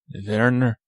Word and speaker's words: Werner Herzog: They're spelled with W's, but I pronounced it like a German. Werner. Wim Wenders. Get your Wiener Schnitzels. Werner Herzog.